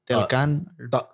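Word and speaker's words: Talokan: And that's been the city of I forget how do you pronounce it again? Talocan.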